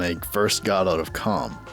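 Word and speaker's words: Kalm: I was stunned when I first got out of Comm. I I think that's how it's pronounced. There's a K in there, so it confuses me cuz Yeah.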